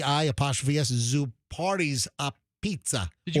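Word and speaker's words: apizza: A pizza or or they they like to pronounce it a beat.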